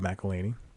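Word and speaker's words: McElhenney: the show created by Rob melany is how he pronounced his name um and uh I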